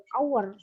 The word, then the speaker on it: hour: Tetapi ketika kalian menemukan kata hour, maka dia nggak bisa pakai dia harus pakai en karena ya.